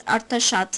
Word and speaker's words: Artashat: The name of the city was pronounced as Artashat in the language of the local inhabitants.